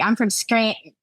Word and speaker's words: Scranton: And a true Scrantonian would not pronounce the T. They'd be like, I'm from Scranton.